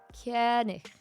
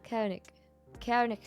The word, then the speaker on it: König: Something like that, but it's not a hard G. Koenig.